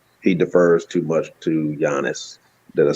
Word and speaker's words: Giannis: He defers too much to Giannis.